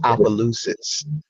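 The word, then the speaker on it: Opelousas: to pronounce my hometown um how do you pronounce that it is aalis aalis okay yeah okay you're back yeah yeah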